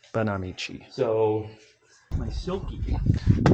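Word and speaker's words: Banámichi: And by the way, I've been saying it wrong, everyone. Banamichi. Banamichi. Banamichi.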